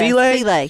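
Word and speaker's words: filé: Yeah, filet.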